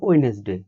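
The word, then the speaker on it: Wednesday: বা বলতে পারো ওয়েডনেসডে, ওয়েডনেসডেতে দেখো প্রথম যে ডি সেটারও ডি উচ্চারণ আমরা করি না।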